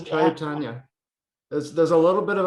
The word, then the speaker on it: Chaitanya: Oh, at the 25 seconds, he explains how to pronounce Chaitanya. And I just naturally, I think I hear Chaitanya. I don't know. Yeah, that's what he's saying. He says Chaitanya.